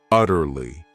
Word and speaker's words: utterly: Then we have another great adverb, utterly. This word has 3 syllables, and the stress is on that first syllable, utterly.